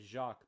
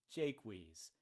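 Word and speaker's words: Jaques: 1600 ad the English the British would have pronounced it not French as Jacques but sort of anglicized as Jake wheeze or Jake's and I know if you speak French just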